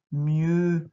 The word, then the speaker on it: mieux: Mieux avec le E ici et la lettre X qui est muette qu'on n'entend pas.